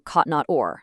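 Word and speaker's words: כתנות אור: a garment of light, in Hebrew kotnot or, spelled with the letter aleph. But afterwards, the text says God made him garments of skin, which is also pronounced kotnot or, but spelled with a different letter, ayin.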